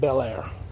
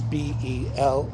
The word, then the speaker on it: Bellaire: It's called Bellaire. Not Bellair. It's Bellare.